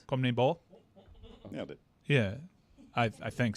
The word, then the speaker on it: CONMEBOL: CONMEBOL. Nailed it. Yeah, I think so. It's confusing because of all the syllables and whatnot.